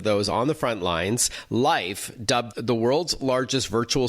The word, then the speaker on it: Lyf: operations and product at life which is spelled by the way l-y-f welcome to the show